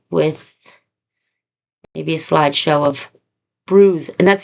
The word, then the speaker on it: Brooze: But I'm going to update you with maybe a slideshow of bruise. And that's spelled B R O O Z like booze but with an R in it.